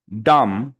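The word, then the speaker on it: dumb: কি করলেন আ ডাম ডাম বি কিন্তু পড়েন নাই বি কি পড়ছেন বি এর উচ্চারণ করেছেন করিনি করেন নাই কারণ হচ্ছে বি এর উচ্চারণ হবে না তাহলে হবে কি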